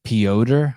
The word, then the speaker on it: Piotr: Piotr. When I wrote it down, I just write P-E-E-Oder. O-D-E-R. Piotr.